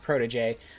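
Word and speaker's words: protégé: It's pronounced protege.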